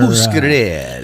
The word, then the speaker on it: Muscarella: Muscarella. Pronunciation.